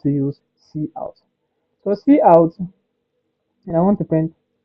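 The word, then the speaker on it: cout: So see out stands for console out and it's pronounced see out not cut or something like that.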